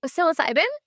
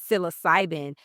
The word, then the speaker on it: psilocybin: And so, your specialty is, how do you pronounce it? Psilocybin. Psilocybin.